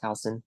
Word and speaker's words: Houston: your last name right hson absolutely yes H spell like Houston pronounced hon yeah all right so